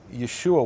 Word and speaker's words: Yeshua: larger name right so Yeshua why e s h UA is in Hebrew Yin that's how the name Joshua would have been pronounced in second temple times in late second temple